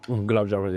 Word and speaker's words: gulab jamun: Gulab jamun. Gulab jamun, yeah, that one, good one. Yeah. Yeah, yeah. Is that how you pronounce it?